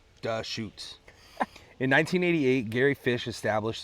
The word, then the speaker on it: Deschutes: It's pronounced Dashoots.